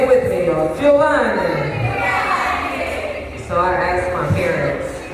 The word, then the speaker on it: Giovanni: It's pronounced Giovanni. That's right, say it with me, y'all. Giovanni.